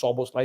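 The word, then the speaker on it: Szoboszlai: his name, you won't pronounce it, so you can. It's just Soboslai.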